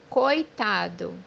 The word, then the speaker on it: coitado: مثال عندنا كلمة مسكين أو غلبان بمعنى coitado, coitado, زي ما انت شايف في كلمة كويتادو المجموعة الحرفية ال O وال E مع بعض في جزء واحد من الكلمة بدون فصلهم.